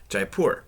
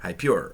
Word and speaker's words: Jaipur: I love games like Jaipur, or Hyper, or Hypure, or Jaipur, or however you want to pronounce it.